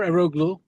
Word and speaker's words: Eroglu: Next up is Omar Eroglu, and I'm sure he's going to correct my pronunciation of that. Um, Omar, are you available? Uh, your pronunciation was pretty good.